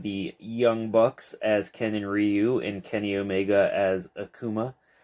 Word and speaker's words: Ryu: tongue uh Ryu rayu I believe the correct pronunciation is Ryu but most people I know say rayu so whichever I guess